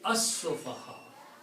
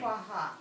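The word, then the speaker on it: السُّفَهَاءُ: of seen will kill the sound of lam. It will be as-sofaha, just like the way you read in the Quran. Isn't alif, I'm sorry, isn't alif is silent? Right, when you combine. Sufaha. Yeah, when you combine these two together, then this alif is not recited. So you recite lam combining with this seen, it will be sayaqulus sofaha.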